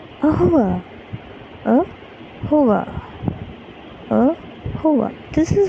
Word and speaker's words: au revoir: So how do you pronounce that? Ahova, ahova, ahova, ahova.